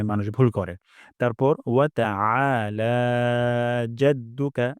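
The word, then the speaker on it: تعالى: তারপর ওয়া তাআলা জাদ্দুকা, এখানে আইন গলার মাঝখান থেকে উচ্চারণ হবে। উচ্চারণ করব না, হামজা উচ্চারণ করব না। তাহলে এখানে হামজা হয়ে যায়। ওয়া তাআলা এবং লাতে এক আলিফ টান।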